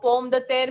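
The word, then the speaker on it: pomme de terre: the there the means of in french so pom the there means potato whenever you hear poem the tear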